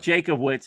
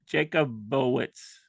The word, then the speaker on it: Jacobowitz: pronounce that excuse me it's not Jacob witz it's there's an o in there Jacob jacobowitz jacobz choitz there you go why do I feel